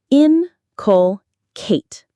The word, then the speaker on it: inculcate: Inculcate. Inculcate. The stress is on the first syllable.